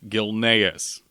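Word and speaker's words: Gilneas: the brand new Zone Gil naus and it is pronounced gilas thank you and make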